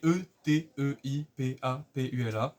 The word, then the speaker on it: Eteipapula: Ete Papula, vous le prononcez de n'importe quelle façon, je m'en fous. C'est Eteipapula.